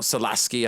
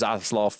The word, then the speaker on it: Zaslav: it wrong so yes i know it's not solaski i know it's zazeloth i do it on purpose okay there you